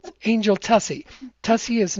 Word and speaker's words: Tuccy: And you have to on air say, well, it's Tuccy, not the way that they pronounced it, right?